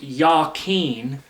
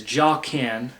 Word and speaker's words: Jachin: so it's properly pronounced Yen even though many English speakers mispronounce it as jaen there there is no J in Hebrew just like many people